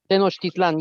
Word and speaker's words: Tenochtitlan: Did Juan Rodriguez Cabrillo go to, and I'm not going to pronounce this correctly, Oh, I'm sorry. Oh, Tenochtitlan. Tenochtitlan, yes